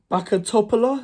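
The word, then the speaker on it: Bačka Topola: welcome back to another mat reaction uh bakat toopa is how you pronounce them uh Neil West Ham United one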